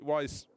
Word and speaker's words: YZ: Wise Racing, as it's spelt YZ but pronounced Wise Racing.